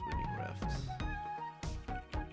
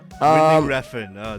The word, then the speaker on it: Winding Refn: del Toro and Nicholas Winding I can never pronounce this guy's name. Nicholas Winding Refn. Let me check. Nicholas Winding Refn. Yeah. Winding Refn, Danish film director.